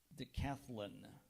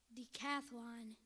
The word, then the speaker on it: decathlon: are there any Al pronunciations there is daath De cathlin d cathlon d e c a